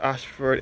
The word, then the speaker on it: Ayshford: which is situated along Ashford in St Thomas other would have said before this Ashford is spelled a y s h f o r d this is RO leading